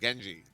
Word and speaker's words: Genji: Yeah, I was calling him Genie for a while because I wasn't sure how to say it, but I happened upon him in a pub, and I just asked him in person. I was like, "How do you say your name?" And he said Genji.